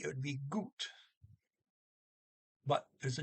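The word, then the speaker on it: godt: well got okay but note that good is g o d good um and you add the t it goes to gaut but excuse me the god don't pronounce the d either so it's a goo or good okay that's the word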